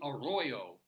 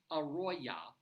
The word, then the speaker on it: Aroya: or mischaracterizing it, and it should be Arroyo, Colorado. But no, this is something else. This is Aroya, 1 R and an A on the end, Aroya, Colorado.